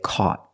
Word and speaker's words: caught: To change the verb catch in the past, we say caught. The AU makes a sound back here, caw. The GH is silent, and the T is a stop T, caught. Not caught, caught. Make a stop T. Put your tongue up and stop the air, caught.